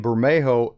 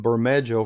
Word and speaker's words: Bermejo: probably right so I did investigate that and Bermejo is the proper pronunciation of his name Oh so anyway I will try since I've called him Burma Jo for so long I'm a mess up a